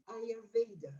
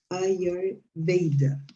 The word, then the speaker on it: Ayurveda: In English, you pronounce it Ayurveda. Ayurveda. Ayurveda. But in Spanish, people say Ayurveda.